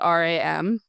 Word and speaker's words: RAM: RAM is Random Acts of Marketing, which is then abbreviated RAM, which can then be pronounced RAM.